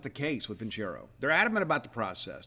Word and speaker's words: Vincero: It's Vincero. That's how you pronounce it, Vincero.